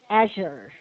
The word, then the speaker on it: Azure: Azure. The stress. Azure. Yeah. No, you're right. I'm sorry. The stress is on the first part. Azure. Azure.